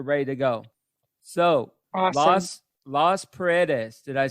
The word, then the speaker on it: Las Paredes: Las Paredes, did I say it right? Las Paredes, yes.